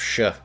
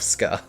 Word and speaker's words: Sch: We're gonna make like the cult of Sh. The cult of SCH being pronounced sh instead of ska.